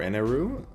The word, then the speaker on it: Enel: is going to be Enel or Eneru. You can pronounce it either way, but he is going